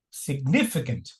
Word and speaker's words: significant: It's pronounced as significant significant significant.